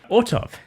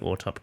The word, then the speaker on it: Autop: So you've gone from, uni and I hope I'm pronouncing Autop correctly. You are correct, yeah. Wonderful, okay. So many people say Auto P at every time. Auto P, yeah.